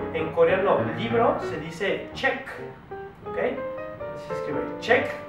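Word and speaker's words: 책: ver un ejemplo en coreano libro se dice check Okay así se escribe check y se pronuncia check entonces e chotta es un adjetivo en coreano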